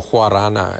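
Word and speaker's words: guaraná: And now Jeffrey Kittigan wants to bring in guarana, or huarana as it's pronounced by the Portuguese.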